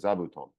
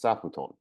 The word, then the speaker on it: zabuton: know it's because of the Japanese word zabuton that you could not help but pronounce as sauton because you were made